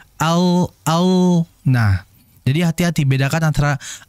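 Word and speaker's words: ل: Ana Al dengan Al jadi ketika kita baca huruf alam itu Al lidah itu seperti Mekar ya yang mekar dia naikkan ke atas ke langit-langit Al Al Nah bukan Al Al kalau Al itu kalau saya perhatikan ee lidah enggak Mekar melainkan ujung lidah yang menempel Al Al Nah jadi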